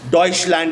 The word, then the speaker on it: Deutschland: Deutschland is what they used to call them. This is the word in German for Germany. It's called Deutschland.